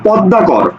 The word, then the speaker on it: পদ্মা: এই শব্দটির উচ্চারণ কি তাহলে দেখো তো ম ফলা আছে সুতরাং কি হবে চন্দ্রবিন্দু হবে চন্দ্রবিন্দু কোনটা আছে দেখো এইটা আর এইটা আছে তাহলে উচ্চারণটা দেখো পদ দা পর আচ্ছা এই জায়গাতে একটু